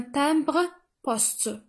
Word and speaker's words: timbre-poste: La dernière image, il s'agit d'un timbre-poste.